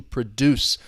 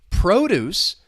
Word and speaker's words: produce: So to produce, this is a verb. You're making something. You're bringing it into existence. Two syllables. The stress is on that second syllable. To produce something. produce. This is food that's grown. Vegetables would be an example of produce. The stress is on the first syllable.